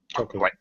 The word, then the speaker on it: chocolate: at a little earlier don't really say chocolate we say chocolate Chate again we we reduce or drop that middle syllable it's very common chocolate